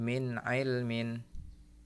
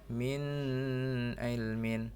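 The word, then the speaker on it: مِنْ عِلْمٍ: mati bertemu Ain Hai min ilmin min ilmin tidak boleh membacanya minus ilmin salah ya yang benar Min ilmin weton Win dan tanwin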